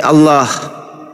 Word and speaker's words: Allah: Kalau Anda mengatakan ALLH berarti bacanya al. Tuhan kami Allah. Jangan kau hilangkan huruf A-nya.